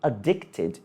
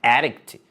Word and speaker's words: addict: é addict to be addicted to something E aí a pronúncia é addict mesmo não é adct esse addict é de